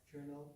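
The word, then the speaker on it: colonel: It's hard to expect a computer to be able to guess that kernel is supposed to be written as C-O-L-O-N-E-L.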